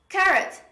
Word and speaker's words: carrot: happen all the examples carrot not carrot there is no double r there is only one r when we pronounce carrot